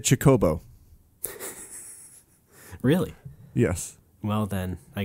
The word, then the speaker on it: Chocobo: I thought Chocobo was Kokobo. Oh, that's interesting, because Brad always said Kookaboo. Yeah. I have no idea where that came from, but... Yeah. I always said Chocobo.